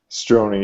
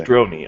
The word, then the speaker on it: Strojny: Is that Strojny? Strojny. You just don't pronounce the J. Strojny.